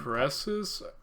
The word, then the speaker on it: Crassus: Crassus? Is that how it's pronounced?